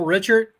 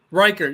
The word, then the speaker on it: Reichert: Bill Richard, alcohol dragster guy from Michigan. No, I remember Bill Reichert. Reichert, yes. Excuse me, mispronounced.